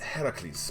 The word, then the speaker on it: Heracles: Hercules like don't call him cartoon like the Greek myth except it's actually pronounced Heracles by the way and that's why you don't call him that like in the anime.